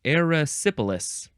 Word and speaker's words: erysipelas: Erysipelas.